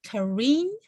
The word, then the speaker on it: Karine: Karine is pronouncing it correctly. Yes. Hi. How are you? Hello. Please introduce yourself. Karine.